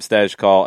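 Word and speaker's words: Stejskal: call yes I tried the last name is tricky and it's been mispronounced a lot I believe we're getting that correct now Sam stes call of the athletic has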